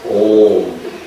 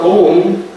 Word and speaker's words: Om: Now Om, it consists of three syllables. Звук Om состоит из трех букв. A, U, and M.